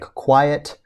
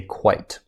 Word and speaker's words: quite: meal was quite delicious now this is not pronounced like quiet we say quite okay quite the meal